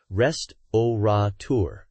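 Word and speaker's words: restaurateur: reflect the spelling right no adding an extra n Sound absolutely pronounce it as it's spelled rest oour anything else sounds well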